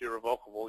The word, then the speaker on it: irrevocable: An irrevocable trust, which is much less common, but there are specific reasons to use an irrevocable, pronounced irrevocable either way, a trust.